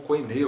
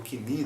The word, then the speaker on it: koine: No Novo Testamento, os livros, o Novo Testamento, que foi escrito em grego koine, ou grego kini, né, para pronunciar aqui um pouco mais próximo da pronúncia original.